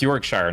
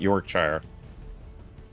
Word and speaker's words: Yorkshire: It's pronounced Yorkshire, not Yorkshire.